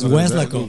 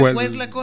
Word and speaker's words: Weslaco: Así no se dice, güey. Weslaco. ¿Cómo se dice Weslaco, Andrés? Así como se oye, así como se escribe Weslaco. Sí, no. Yo porque lo sé pronunciar, pero éxito. Éxito. Muy bien. ¿Y? Así es como como yo digo acá a los gringos que le dicen Weslaco.